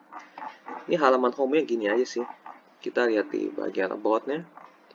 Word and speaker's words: Ace: Kalau bacanya lebih bagus S Oilfields Tbk.